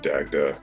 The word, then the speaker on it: Dagda: Like, Dagdar is actually Dagda.